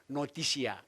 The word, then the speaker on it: notitia: pengetahuan itu disebut noticia noticia tulisnya notitia bacanya noticia dimensi pengakuan disebut a